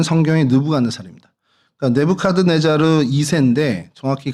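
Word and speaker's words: 느부갓네살: 그래서 먼저 좀이 보면 이곳에 좀 대표적인 유물들이 어 공중 정원이라고 느브간네살인데 뭐 영식 발음으로 네부 카드 네자르라는 그 왕의 공중 정원이 있고요. 우리가 잘 알고 있는 성경에 느브갓네 사람입니다.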